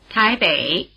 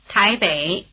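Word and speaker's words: 台北: Wěi, Wěi, Wěi The diphthong "ei" is spelled EI as in Taipei, which is pronounced in Chinese like this. Táiběi, Táiběi Remember that without the letter I the letter E was pronounced "e".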